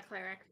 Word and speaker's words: cleric: I'm not a cleric. Oh, that gave us 7. What Erica do? Is it actually pronounced cleric? It's cleric. Yes, it's pronounced cleric. Not clerk.